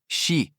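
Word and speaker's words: し: Em japonês, a palavra quatro pode ser pronunciada como xi, o mesmo som da palavra morte.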